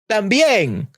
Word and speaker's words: también: If a word ends with a vowel, an N, or S, and is stressed in the final syllable, it requires an orthographic accent. Some examples of these are también, also.